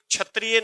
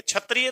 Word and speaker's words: क्षत्रिय: जला रूप से है तो दोस्तों याद रखना ये छतरियां नहीं है क्षत्रिय तो ऐसे लिख डॉग भाई आप छतरियां तो ऐसे लिख डॉग ये छतरियां थोड़ी है ये तो क्षत्रिय है तो इसका उच्चारण शुद्ध कीजिएगा तो अब क्या पूछा